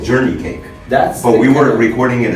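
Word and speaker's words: johnnycake: The way he spoke, and he steps in and he says, "It's really not Johnny cake, you know." He says, "It's the way we pronounce it. It's journey cake."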